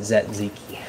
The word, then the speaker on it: tzatziki: I pronounce it Zatziki.